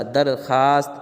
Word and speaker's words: درخواست: نہیں پڑھا جا رہا۔ درخواست اس میں بھی ہے واو لیکن واو نہیں پڑھا جا رہا وغیرہ وغیرہ۔ اس